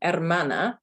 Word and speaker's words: hermana: h so the word hermana here your h at the beginning is silent yes it's not her